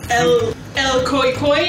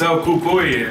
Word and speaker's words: El Cucuy: El Koi Koi and Jeff? This is a terrible pronunciation. Yeah, it's El Cucuy and Jeff.